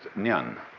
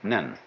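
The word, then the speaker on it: 念: It's pronounced nyan. In Japanese, nen.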